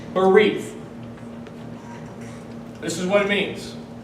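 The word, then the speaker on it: בְּרִית: The Hebrew word for covenant is barith. It's spelled B-E-R-I-T-H. Barith.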